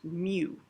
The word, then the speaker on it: mu: a little tail in front uh this is pronounced mu and again it's a greek letter uh it